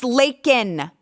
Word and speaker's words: Laken: say her name Joe it isn't Lincoln Riley you old incoherent defecating in your diaper babbling drooling idiot it's Laken do you think her